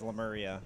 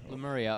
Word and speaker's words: Lemuria: pronounce it but the way that we all pronounce it is lemuria lemuria okay probably okay it's not as nice lemurian